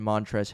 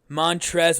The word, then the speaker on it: Montrezl: is silent because i always thought it was like montrez was an abbreviation for his full name no okay that actually clears a lot of confusion yeah okay that's good so two guys with silent letters anyway that is not